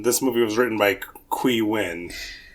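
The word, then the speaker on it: Qui Nguyen: movie was written by qu win okay that's how you pronounce that last name okay perfect so and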